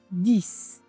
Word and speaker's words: dix: in english you say di-ss almost like there is an "s" sound at the end actually there is an